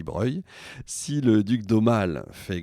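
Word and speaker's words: Broglie: le duc de Breuil alors ça s'écrit Brogel hein mais ça se dit Breuil si le duc d'Omal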